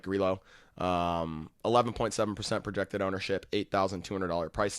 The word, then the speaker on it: Grillo: Let's figure it out once and for all right now on the pod. Grillo. Interesting. Yeah, so it is Grillo.